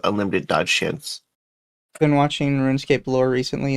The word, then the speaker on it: Runescape: It's Runescape. What are you talking about? He's saying He's saying Ruin and it's Rune. It's Runescape.